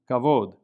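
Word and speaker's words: כבוד: And the kaf at the beginning of the word has a hard K sound, kavod, honor or glory.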